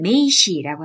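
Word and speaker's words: 名詞: 일본어로 명사는 메이시라고 합니다. 메이시. 메이시 아시겠죠? 이 명자가 메이로 발음되고요. 사자가 시로 발음돼요. 그래서 명사 그러면 메이시가 됩니다.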